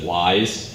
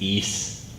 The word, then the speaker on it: Ys: Like everyone says wise, it's not wise, it's ease. That's the proper pronunciation.